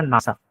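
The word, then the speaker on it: NASA: जैसे हो गया नासा। ठीक है? हम नासा को एन ए ऐसे नहीं बोलते। ठीक है? हम सीधा क्या बोलते एज अ वर्ड उसको प्रोनाउंस करते हैं जैसे नासा ठीक है फिर जैसे हो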